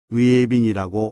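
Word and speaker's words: 月饼: 달처럼 둥근 떡이란 뜻입니다 중국어는 위빙이 발음합니다 월병은 밀가루 반죽에 파서와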